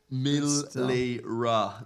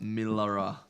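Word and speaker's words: Milera: Milra, not Miller.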